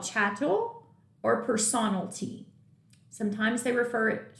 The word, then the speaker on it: chattel: i love his channel it rhymes with cattle and it's movable how